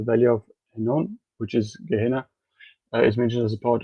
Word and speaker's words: Gehenna: Um, and then what we're talking about now with the lake of fire is called Gehennon or Gehenna depending on how you want to pronounce it.